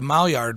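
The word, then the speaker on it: Maillard: what i mentioned earlier and that is the mall yard reaction yard is spelled m-a-i-l-l-a-r-d what it is is it's a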